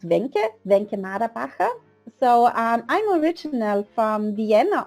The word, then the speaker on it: Wencke Maderbacher: Yes, it's pronounced Wencke Maderbacher.